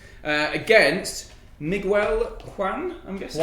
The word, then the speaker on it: Juan: Against Miguel Juan, I'm guessing. Juan, that's how it's pronounced.